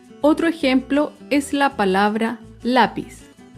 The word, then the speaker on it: lápiz: Otro ejemplo es la palabra lápiz. Lápiz es una palabra grave porque se acentúa en la penúltima sílaba.